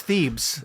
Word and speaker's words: Thebes: I don't even know how to pronounce that, Dan. Thebes. Thebes? It's Thebes.